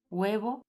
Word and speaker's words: huevo: H, esta letra es muda, es decir, no se pronuncia, tal y como vemos en estos ejemplos. Hielo, huevo y helado.